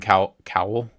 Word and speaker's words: cowl: How do you say Cowl. it? Cowl. Cowl? Yeah. Cape and cowl. Cape and cowl. Are we gonna see sleeveless Wolverine? Like towel, but with K.